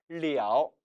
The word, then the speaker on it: 了: 발음은 리ao, 리ao, 삼성이 됩니다.